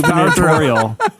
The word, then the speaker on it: gubernatorial: A gubernatorial. I feel like I'm adding an extra syllable. I feel like there's a lot of syllables in that word.